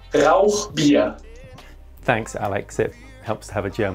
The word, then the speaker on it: Rauchbier: Hey Martin, it's pronounced Rauchbier.